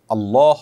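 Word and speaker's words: الله: দেখুন, এটা ঠিক যে আরবি উচ্চারণের যে রীতি, সে রীতি অনুপাতে আল্লাহ এই শব্দটার আগে যখন জবর বা পেশ থাকবে তখন সেটা একটু মোটা হবে, মুখটা হালকা গোল হয়ে আসবে, আর না হলে সেটা হবে সাধারণ স্বাভাবিক, যেটাকে বারিক বলা হয়।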